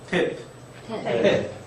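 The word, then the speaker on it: טית: 태 태 이렇게 항아리를 그리듯이 이렇게 그리시면 되고 우리말 티귿 발음과 같은 발 발음이 난다고 보시면 that 어떤 분들이 쌍디귿으로 발음하기도 하는데 일단 티귿으로 발음을 하도록 하겠습니다.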